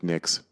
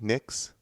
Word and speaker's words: Nyx: Am I pronouncing that correctly? Nyx? Yeah, Nyx.